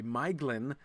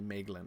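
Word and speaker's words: Maeglin: Miglin uh the elf who uh betrays Gondolind was much harder. I still will sometimes slip and say Mlin which is how I always pronounced that.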